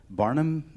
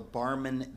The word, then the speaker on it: Barmen: So, but you mentioned, was it the Barnum document that?